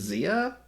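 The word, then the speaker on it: Xia: It was Zia. Is that how you pronounce it?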